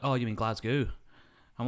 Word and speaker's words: Glasgow: And they're like, oh, you mean Glasgow? I'm like, you sounded American. You called it Glasgow. That's how Americans say it, because that's how it looks.